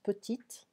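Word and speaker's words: petites: And petite, we don't pronounce the S, petite, it's feminine, plurion.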